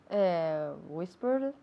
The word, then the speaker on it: whispered: Whispered. Whispered, se escribe con ed, acaba en ed, pero no se dice whispered, sino whispered, ¿ok?